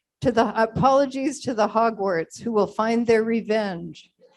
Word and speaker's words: Hogwarts: Granger from from the Hogwarts a Hogwart is what okay oh that's not embarrassing you're welcome I said it wrong how can I say it okay Hogwarts Hermione Hermione from the